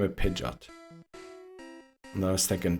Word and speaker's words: Pidgeot: I think I said Pidgeot and I was thinking that's definitely mispronounced. It's supposed to be Pidgeot. It was pigeon and just a T at the end. Pidgeot.